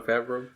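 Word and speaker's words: Favreau: John Favio or however you pronounce it. Fio. I I'm horrible pronouncing his last name. John Fabro.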